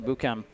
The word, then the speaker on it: Boukiam: Ramzi Boukiam, as they pronounce it in Morocco, just going to town.